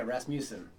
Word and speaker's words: Rasmussen: Yeah, Rasmussen is the worldwide accepted pronunciation of the name.